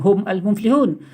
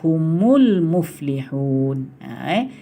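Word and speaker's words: هُمُ الْمُفْلِحُونَ: Tapi Rasulullah baca bukan hum al-muflihun. Rasulullah baca humul muflihun.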